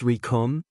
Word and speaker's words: Rikum: Because the name's Rikum, and it rhymes with doom, and you're gonna be hurting.